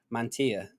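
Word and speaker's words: Mantilla: Colombian Center back Kevin Mana I think that's how you pronounce his name Double L in Spanish he's a why isn't it so yeah Mantia you know what I'm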